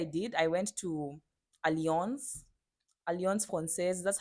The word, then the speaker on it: Alliance Française: So what I did, I went to Alliance, Alliance Française. That's how it's pronounced.